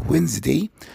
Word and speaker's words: Wednesday: نلاحظ في الـ Wednesday الدي silent.